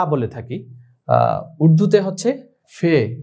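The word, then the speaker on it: فے: ফে এটা আরবিতে আমরা ফা বলে থাকি উর্দুতে হচ্ছে ফে এটার উচ্চারণটা আমরা ফে বলবো ফা বলবো না ফে এরপর আরবির মধ্যেই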